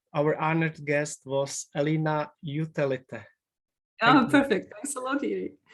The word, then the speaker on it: Jutelyte: surname please because for me very hard to pronounce it uh it's utelite thank you very much for coming to this interview alina uh our honored guest was alina utalita i'm perfect thanks a lot it was a